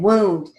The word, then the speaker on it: wound: Again, wound. You can write it like it's spelled, W-O-U-N-D, or you can write it with a long U, W long U-N-D. Either one works.